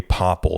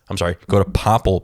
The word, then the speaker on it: Popl: If you're a business, if you're trying to grow your Instagram, I highly recommend a Popple. That's spelled Popl.